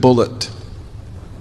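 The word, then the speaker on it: Bulliet: He spells his name B U L L I E T and he pronounced it bullet. He corrected me. He said, "No, my name's not Bouier, it's Bullet."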